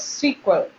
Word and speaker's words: SQL: IBM S curve is pronounced as sequel SQL is a computer